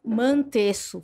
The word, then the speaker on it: Mantesso: Então, você, Mantesso. Falei certo seu nome? Uhum. Ou é uma pronúncia alemã também, que eu não vou saber? Não, é italiano, é normal.